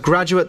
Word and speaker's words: graduate: u a t e same as graduate the verb but graduate the noun we pronounce differently so a graduate is the person who's